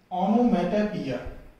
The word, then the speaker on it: onomatopoeia: उसके बाद अगला फिगर ऑफ स्पीच है ऑनोमेटोपोइया। Please listen to me carefully and listen to the pronunciation of this word ऑनोमेटोपोइया।